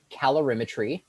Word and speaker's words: calorimetry: about these three topics here um this is pronounced calorimetry and that's the measurement of energy measurement of